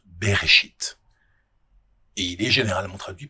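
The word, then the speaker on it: בראשית: Le premier mot de la Bible en hébreu se prononce beréchit et il est généralement traduit par au commencement.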